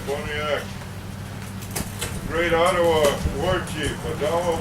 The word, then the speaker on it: Pontiac: was act otherwise uh they pronounce it pontiac we say bonnie act great ottawa warchief a